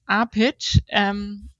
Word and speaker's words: Apitzsch: It's Apitzsch. I think it's easy to pronounce it as Apitzsch, but yeah, written very different.